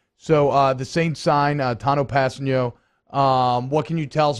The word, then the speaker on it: Kpassagnon: I looked it up online yesterday, so it's easy to it's like pass, the letter N, and then yo. If we're just talking phonetic pronunciation, Kpassagnon.